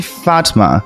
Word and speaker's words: Fatma: I listened to about 5 different ways to pronounce this name, and it seems to be Fatma.